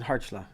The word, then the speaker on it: Kharchla: so and so it's hardshell you don't say the k is that right yeah okay carson heartla got it yup history